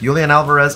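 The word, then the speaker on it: Julián Álvarez: Julian Alvarez up top. That's how you pronounce that.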